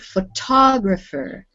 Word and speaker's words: photographer: stressed pattern in english the first word is photograph with the stress on the beginning the second word photographer with the stress on the second syllable what about this word